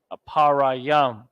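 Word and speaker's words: אפרים: ah PA ra yum apara yam that's how you pronounce Ephraim in the ancient Hebrew aparayam and we're building it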